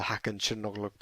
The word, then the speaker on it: Hakan Çalhanoğlu: But also a special shout out for Hakan Çalhanoğlu.